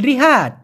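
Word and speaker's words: rehat: আর রিহাত মানে রিহাত অনেকে বলে কিন্তু শব্দ উচ্চারণ কি হবে জানেন? রিহাত। রেহাত কারণ আর ই রে শুদ্ধটা হবে রেহাত তবে আপনি রিহাদ বললে ওরা বুঝে নিবে রেহাত মানে বিশ্রাম নেওয়া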